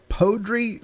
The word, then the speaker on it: Poudre: taking a look at what is called the podri school district I may be mispronouncing it it's p-o-u-d-r-e but we'll just call